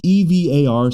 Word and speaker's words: Evar: Evar or Evar, it's EVAR, so I'm going to say Evar, let's say.